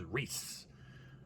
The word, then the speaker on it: Reese: hello um professor reese as the peanut butter cup you can pronounce my name as reese like the peanut butter gut however most people just